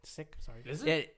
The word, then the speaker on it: Sikh: Sikh was a religion it's actually pronounced sick sick yes I scream sick